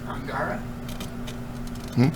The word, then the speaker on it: Angara: the Russian proton Rockets is called angara but that keeps getting pronounced sounding kind of like Angora goat rocket there was a something